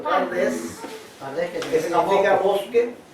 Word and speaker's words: Pardes: Bueno, que aquí ellos tienen un acróstico que se pronuncia así en español, Pardes, que significa bosque, y